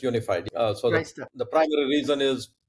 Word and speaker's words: UNIFYD: isn't it that's right it's pronounced unified even though the spelling is whatever it is okay we pronounce it's unified so the primary reason